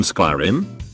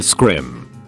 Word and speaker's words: Skyrim: Scrolls game I said Oh you mean Skyrim he laughed condescendingly and said no I mean scrim thinking he was just mistaken I was like oh no it's called Skyrim no it's not it's pronounced scrim at that point I